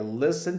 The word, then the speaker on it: listen: E não esqueçam que a gente não pronuncia o teu. É listen to music.